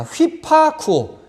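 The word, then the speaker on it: ὑπακούω: 이 윕실론을 위로 발음하죠. 그래서 여기 이제 순표가 있기 때문에 휘파가 됩니다. 휘파쿠오.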